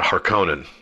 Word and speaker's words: Harkonnen: So the villain in this movie, as we well know, is the Baron Vladimir Harkonnen, and some pronounce it Harkonnen. I think that either is correct, so don't let pedants